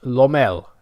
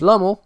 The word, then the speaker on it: Lommel: That's how you say it. So my title, Pummel Lommel, didn't really work because it wasn't really a rhyme. It was a half rhyme. If it had been pronounced Lommel, then yeah, that would have been fine.